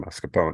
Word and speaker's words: mascarpone: pronounce those two words is it mascarpone mascarpone mascarpone mascarpone mascarpone mascarpone the Italian and then streusel was right it's true okay all right let's try again mascarpone that's right again okay make it